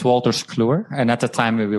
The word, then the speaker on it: Wolters Kluwer: Your first major role was as an IT consultant is it Wolters Flumer? Is that bad pronunciation? No, it's Wolters Kluwer, and at the time we were not called that.